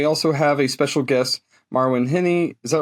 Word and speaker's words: Marwen Heni: And then we also have a special guest, Marwin Henny.